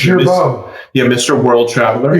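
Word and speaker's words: Girbaud: How would you pronounce it? Gerbaud. Yeah, Mr. World Traveler. Gerbaud.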